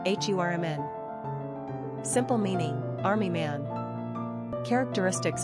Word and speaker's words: Herman: Pronunciation, Hurman.